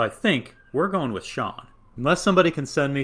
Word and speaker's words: Shawon: grew up calling him shawan because that's how it's spelled but in every thing i've seen it's sean and so i think we're going with sean unless somebody can send